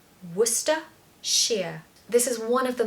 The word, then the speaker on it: Worcestershire: mean nothing I want you to just say Worcester sheer Worcester Shear this is one of the most scary and commonly mispronounced or just avoided words in the English